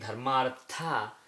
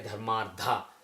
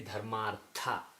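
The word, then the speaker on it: धर्मार्थ: Instead of saying Dharmartha, they say Dharmardha. Dharmardha is wrong. It should be Dharmartha.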